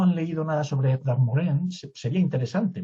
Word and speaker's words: Morin: Una breve referencia, me gustaría, si no han leído nada sobre Edgar Morin, sería interesante. Morin, sería pronunciarlo bien, que es francés, es un pedagogo que merecería la pena leerse.